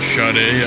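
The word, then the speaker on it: Sade: lady singer named spud it's spelled SAE that's it shut a I believe ya was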